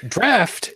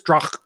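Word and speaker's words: draught: Draft is the proper pronunciation and means straight from the barrel, so I'm not sure what Shujin is drinking. I am drinking Guinness Drach Stout.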